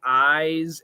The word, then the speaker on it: eyes: Is there a pronunciation difference between eyes and ice? Yes, the Z and S. So EYES is a Z sound, eyes, and ice is an S sound. Otherwise, they're the same.